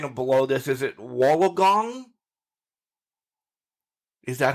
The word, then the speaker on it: Wollongong: Is it Wollongong? Is that how you say it? Wollongong.